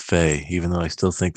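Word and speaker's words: Fe: I'm just glad that I finally know how to pronounce it. Since we know it's Fae, even though I still think there's going to be some confusion between people talking about Fire Emblem and Fae.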